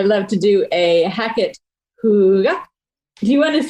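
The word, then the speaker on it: hygge: I love to do a Hackett Hooga. Do you want to say Hooga in the most best Danish way? Hooga.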